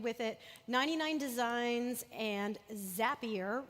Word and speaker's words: Zapier: it 99 design and zapier rhymes with happier they're clients of ours